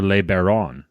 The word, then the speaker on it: LeBaron: And his name is Tyler LeBaron. Tyler, am I pronouncing your name right? Is it LeBaron or LeBaron or LeBaron?